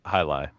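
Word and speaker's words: jai alai: yeah j'ai a la I ok but it's pronounced hot hi lie yeah so that that's the thing if you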